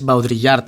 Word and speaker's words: Baudrillard: Baudrillard, termina, por ejemplo, en Nicolas Bourriaud, que se escribe Bourriaud. Por cierto, Baudrillard es Baudrillard.